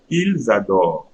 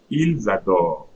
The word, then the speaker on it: ils adorent: Now look at for il L plural, it's written ENT, but see how I'm going to pronounce. Ils adorent. Ils adorent.